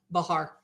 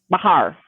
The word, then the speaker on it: Bexar: I think it was Bexar County Bahar Bahar yes it's Spanish I can't keep track of what set of pronunciation tools I'm supposed to use for all the different places if it's in Texas pretty much probably yeah Spanish yeah yeah but anyway